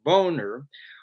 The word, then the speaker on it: Boehner: of john boehner whose name is properly pronounced boner was left as the